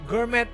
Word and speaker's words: Gourmet: Gourmet Burger Kill ya. Kayaknya nggak dibaca. Bacanya apa sih Kang Dika biar kita nggak salah nih? The Gourmet. Gourmet. Oh. T-nya nggak dibaca.